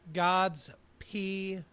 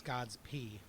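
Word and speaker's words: G_d's Pee: It's called God's P at State's End. And God is spelled lowercase g _ d apostrophe s, God's P, which I guess kind of sounds like Godspeed.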